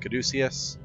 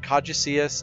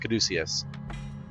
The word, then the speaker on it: caduceus: with feathers all over it but it is pronounced caduceus not coddycius don't even think it's pronounced kadjacius it's pronounced caduceus and caduceus just means twisted staff and you